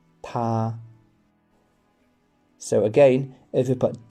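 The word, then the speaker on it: 他: So, both he and she in Chinese is pronounced ta.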